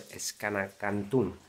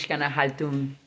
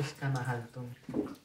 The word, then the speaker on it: Xcanahaltún: Ya estamos en el cenote Xcanacantún. No, es Xcanahaltún. Bueno, Candelario nos va a decir cómo se dice. Se llama cenote Xcanahaltún.